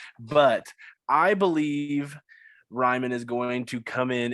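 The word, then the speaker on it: Raimann: been corrected in the past on how to pronounce his name ryman i've been going to bat for a guy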